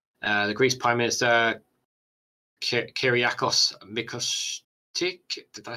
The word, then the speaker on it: Mitsotakis: The Greece Prime Minister Kyriakos Mitsotakis, did I say that right? Mitsotakis. Mitsotakis, yeah. Thank God someone's here to pronounce it for me.